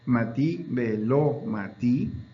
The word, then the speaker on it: Mati Belomí: puede encontrar usted el número tres que se pronuncia Mati Belomí. Mati, velo matí, que se traduce como la muerte por un momento y la restauración inmediata de la vida.